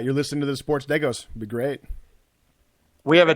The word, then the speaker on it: Degos: So, you know, shout out deos. Is that right? How do you pronounce it? Deos. Say it again. Deos like Legos.